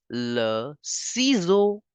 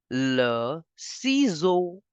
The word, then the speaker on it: le ciseau: The S is between two vowels, so we have to change the sound of S to Z. EAU will give the sound of O. So, scissor in French will be pronounced as le ciseau.